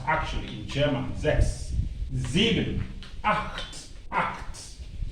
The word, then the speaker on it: acht: Acht. Acht. It's pronounced acht.